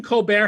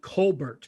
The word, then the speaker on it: Colbert: of an uncommon name stephen colbert has the same thing where his whole family pronounces it colbert but they decided to call him colbert when he was on the daily show and that just stuck so we wanted to